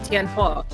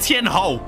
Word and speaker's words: Tian Hua: Yeah, Tian Hua. I keep saying Ho. I keep saying Tian Ho. Why? Because it's the H-U-O.